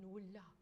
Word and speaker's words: nulla: And really hardly say that second syllable. Nulla, nulla. Double L, but no second syllable. Just on the measure. Nulla. Okay, one other thing that can help, so sorry. Spend more time on the N.